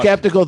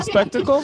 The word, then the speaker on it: skeptical: skeptical that Dan does not know how to pronounce the word skeptical. You guys don't say spectacle?